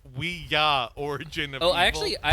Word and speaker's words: Ouija: and Ouija board no it is Ouija we just got it and it's actually it's actually we yah because it's yes yes but anyway I see yeah so it's the movie is pronounced we yeah origin oh I actually